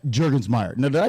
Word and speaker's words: Jurgensmeyer: man of the hour the guest Mr J jurgensmeyer now did I pronounce that right you did you name all